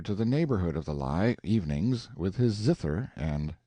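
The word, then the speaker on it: Lei: Laura, two syllables, was a water nymph who used to sit on a high rock called the lie, or lie, pronounced like our word lie, in the rine, and lure boatman to destruction in a furious rapid, which marred the channel at that spot.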